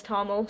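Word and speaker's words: Thomil: T H O M I L. Uh, probably a million ways to pronounce that, but in my head it's Toml, so that's what I'm going with.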